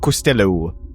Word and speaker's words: Costello: on Let's get on to Abbott and Castella meet Frankenstein. So, um, I guess the first I believe you're Hold on. Yeah, you're you're pronouncing the name wrong. Abot. No. and Costello.